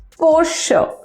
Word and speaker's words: Porsche: by it Mucha gente on makalah that it's for sure for sure for sure fine so it's poor